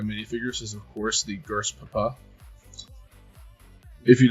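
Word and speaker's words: GRSPP: ahead go over what the gers papa is gers Papa is of course G RS p p is pronounced gers Papa in that sense for goofiness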